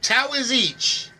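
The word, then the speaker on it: Taoiseach: to pronounce these words the towish towers each there we go it's the towers each that makes a little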